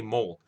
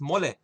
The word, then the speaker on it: mole: fun of them because they can't pronounce mole right? They say mole. I like the chicken and mole. Pendeja, it's mole.